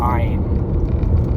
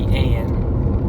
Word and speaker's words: Ayin: It's born out of the limitless all, the Ein, or the Ayin. I've heard it pronounced a couple of different ways.